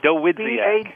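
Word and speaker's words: Dawidziak: It's just got a lot more syllables. The Wizziak.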